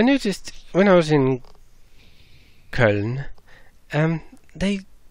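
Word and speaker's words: Köln: when I was in colon and they whenever I heard the town pronounced there was always this colon colon really oh hey actual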